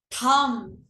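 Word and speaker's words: thumb: थम, थम ब नहीं होता, थम, थम थम। होता है। ठीक है, बी साइलेंट रहता है, थम।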